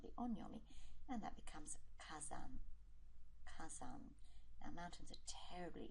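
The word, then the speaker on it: 火山: And we get fire mountain, which is pronounced using the Chinese pronunciation of the onomi. And that becomes kazan.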